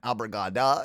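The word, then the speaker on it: obrigada: And then abrigada if you're a female.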